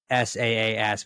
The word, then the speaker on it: SaaS: Talk a little bit about SaaS for those of us who don't totally understand what SaaS is.